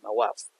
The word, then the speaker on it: Mawaf: It's when Captain is threatening his boys not to touch Mawaf that he pronounces my wife in Cockney as Mawaf.